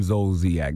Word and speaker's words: Zolciak: Yes, Donkey today for Monday, April 23rd goes to Real Housewives of Atlanta star Kim Zolciak. That's how you pronounce her name?